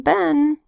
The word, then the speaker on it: been: sound I height then usually the double e makes a long e sound E except in been what makes a short e sound but then next word